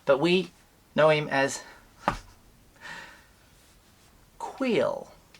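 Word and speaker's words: Kuiil: we know him as Quill. I often say Krill because it just seems easier for me to say with the way I speak. Quill. It sounds very quaint.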